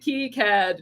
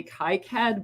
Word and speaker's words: KiCad: things and the chat is it kicad is it key cad no one knows everybody will argue um i tend to say kai kad because that is how i first heard it in my head when i read it um and so that's